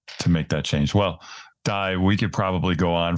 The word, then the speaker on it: Dai: probably find me uh so die is a Welsh name Dai uh my last